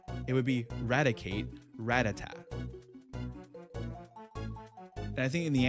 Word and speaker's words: Rattata: Why is it Rattata? It's not Rattata. It's It's Ratat because then you have Radicate. It wouldn't be It wouldn't be like a reticate like Rattata Reticate.